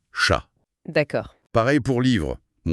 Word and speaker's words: chat: Il parle beaucoup des lettres finales muettes. Ah oui, ça c'est majeur en français. Ça change tout pour la fluidité. Le guide donne des exemples. Oui, il cite parler qui se dit parler, chat qui devient chat.